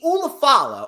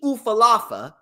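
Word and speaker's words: Ula Fala: The Ulafala, or as LA Knight calls it, the Ufalafa.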